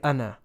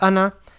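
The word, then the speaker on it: أنا: alif nun alif now here you don't pronounce the second alif right so you just read anna otherwise it would have been pronounced ana so this is pronounced anna and it means i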